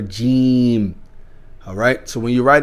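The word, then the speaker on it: جيم: Okay, because it's not Jim. Remember we were talking about the phonetics. It's important because when you read the phonetics, sometimes if we read it in English, we won't know how to pronounce it in Arabic. Okay, so the letter is Jeem.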